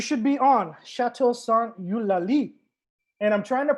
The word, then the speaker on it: Eulalie: yeah okay you should be on chateau's song you lali and i'm trying to pronounce that with the ulali emphasis uh because my sister is a linguist